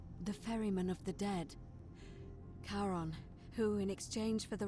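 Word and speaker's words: Charon: it's just as you described it only your pronunciation is a little off the name you heard wasn't karen it was c h r as in caron the ferryman of the dead karon who in exchange for the right coin helps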